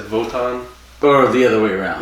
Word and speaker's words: Wotan: I kept referencing how it was a W, but they pronounce it like a V. Mm-hmm. It's Wotan, but they said Votan.